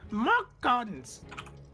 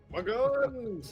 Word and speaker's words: Magons: the sorcerer, Mockguns. Magons, it's pronounced.